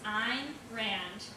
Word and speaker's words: Ayn Rand: tell you a good trick the way you pronounce it is I'm Rand and the way to remember that is in